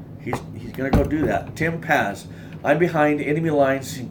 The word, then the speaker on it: Paz: Paz, Tim Paz, P-A-Z. I'm not good at like remembering names, but once I know someone's name, I want to pronounce it right. Tim Paz.